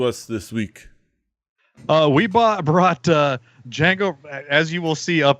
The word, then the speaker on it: Django: if you're googling weird the D is silent David what were your